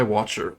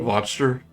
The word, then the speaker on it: Wachter: and Inc comes Nikolai Watcher a watcher he recognized him from the bar VOR if it's if it's supposed to be mock German or German sounding it would be pronounced more closer to V why didn't you tell